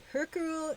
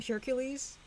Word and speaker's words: Hercule: Hercule, I can't even pronounce it properly. I would call him, when I was a kid, I'd call him Hercules. Hercules Perot, because I was a big Greek mythology kid.